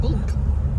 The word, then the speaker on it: Bwlch: Bulk. Bulk. Yeah, not ch. That's how you pronounce it.